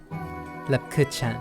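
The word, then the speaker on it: Lebkuchen: Lepkuchen. It sounds glottal. So I did pronounce that right the first few times.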